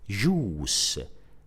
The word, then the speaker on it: juice: The same apply to the word juice, juice. So juice is spelled J-U-I-C-E, J-U-I-C-E. And we pronounce it juice because the combination of letters U-I is pronounced as oo.